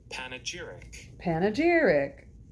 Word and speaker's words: panegyric: Panegyric.